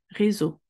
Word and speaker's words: réseau: Entre le E et le S, Réseau. On ne va pas séparer les trois lettres, les trois voyelles, et les trois voyelles créent le son O. Réseau.